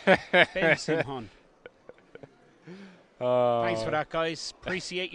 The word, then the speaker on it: Simhon: definitely not Simon. Ben Simhon.